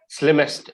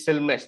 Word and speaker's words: slimmest: phone in the world what you're pronouncing is still mess that is incorrect that is wrong pronunciation the word is slim slim slimmest sl is the spelling